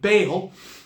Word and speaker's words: Baal: the prophets of Baal Bale ball Baal there's many different uh pronunciations the Middle Eastern pronunciation is probably closer to Bal but you probably are familiar with the pronunciation of Bale uh but this is